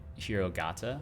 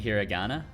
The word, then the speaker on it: hiragana: like to roughly translate hirogata what's hirogata what i don't know what that is you mean hiragana hiragana in with a more japanese pronunciation why for arms so